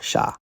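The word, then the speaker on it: 剎: known as putting brakes on, that would be pronounced sha.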